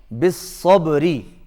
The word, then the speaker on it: بالصبر: اس کا مطلب یہ ہو کہ جب ہم یہاں پر وقف کریں گے تو آخری حرف جو ہے وہ سائلنٹ ہو جائے گا، یعنی اس پر جزم آ جائے گا، اس پر زبر زیر